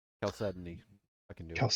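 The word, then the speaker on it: Chalcedony: C H A L Cedoni, but it's it's it's a silent H.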